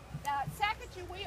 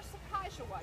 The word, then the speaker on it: Sacagawea: Sacagawea or Sacagawea, depending on your pronunciation and which come. We go mostly Sacagawea here, and we have the U.S. Sacagawea dollar. Historians tell us it's more correctly pronounced Sacagawea, but it's the same